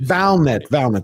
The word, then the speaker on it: Valnet: Okay, so after it got bought out by Valiant, you say Valiant or Valent? I can never pronounce it. Valnet, I believe. Valnet. That's correct.